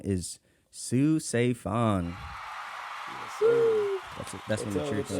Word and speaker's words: Saephan: I think of it like because PH is like an F, right?